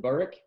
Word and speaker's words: Burik: Like you said, I pronounce it Burik.